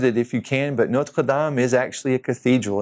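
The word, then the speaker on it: Notre-Dame: So you've probably seen the first one, I know, if you watch college football, Notre Dame. We like to say Notre Dame, but in French it's Notre Dame.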